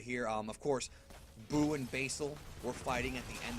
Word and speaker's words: Basil: about Basil is that his Japanese pronunciation is Basiru, or, Basil. But because his pun is based on the herb basil, I think when Funimation dubs it, they're probably going to call him Basil.